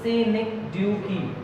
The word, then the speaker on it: synecdoche: Pronounced synecdoche.